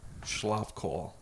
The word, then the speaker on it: Schlapkohl: Schlapkohl. I was pretty You got close. it- you I got was it pretty right then. close. So it's Schapkohl with schlop in it. Schlapkohl. It's spelled how it sounds or whatever.